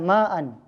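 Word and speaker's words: مع: Yang kedua, ada lafal yang ini ma'an misalnya ya, ma'an. Dia bertanya ma'an di sini. Nah, ma'an di sini baca ma'an kalau biasa kita wasolkan. Tapi kalau kita berhenti waqaf ma atau ma'a. Bacanya ma'a.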